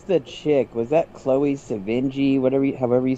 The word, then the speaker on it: Sevigny: Was that Chloe Sevigny? However you say her name. Sevigny, yeah. Sevigny, that's how you say her name.